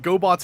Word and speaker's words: Gobots: Uh, also there like there was a French Gobot sequel that was just Revenge of Kronos, but they called it La Rav Gobo because that's how you pronounce Gobots in French.